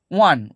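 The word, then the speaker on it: one: কারণ কি ওয়া, উচ্চারণটা হচ্ছে গিয়ে ওটা ভাওয়েল, কিন্তু উচ্চারণের ক্ষেত্রে ওয়া, ওয়া আসছে, ওয়াটা হচ্ছে গিয়ে কনসোন্যান্ট সাউন্ড। ওয়া কনসোন্যান্ট সাউন্ডের জন্য এই ওয়ানের ক্ষেত্রে এ বসছে।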